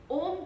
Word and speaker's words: ओम: तो एक्चुअली क्या है, हम कैसे प्रोनाउंस करेंगे ओम को। आपने संधि विच्छेद पढ़ा होगा, संधि विच्छेद, उसमें आ उ को मिला के क्या बनता है, ओ। तो ओ शब्द जो है ओम में यूज होता है।